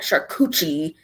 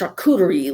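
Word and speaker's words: charcuterie: I'm like, you know, that's what that that's not how you say it. It's not shakuchi. It's shakureri.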